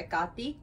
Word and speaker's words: Hekate: it got i'm going to be calling her ekati during this video said did you know so